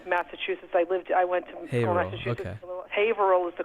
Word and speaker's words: Haverhill: my mom's from massachusetts i lived i went haverhill was the correct pronunciation but nice thank you back manchester's not